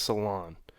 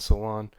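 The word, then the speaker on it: Salaün: I think it's Salon. I don't know how to say the first name completely, but I believe it's Salon.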